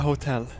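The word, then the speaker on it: hotell: Oh my god, it's a hotel. Hotel? Hotel. Hotel. Hotel. Hotel. Hotel. That's how you say it. It's a little bit hard to say it. It's like a hot L.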